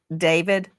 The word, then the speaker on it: DV4D: Some people look at his name and it looks it looks like D4 VD and he pronounces it David.